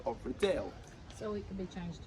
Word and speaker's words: Riddell: That's right, I did say Riddell, and it's not because I'm terrible at my job.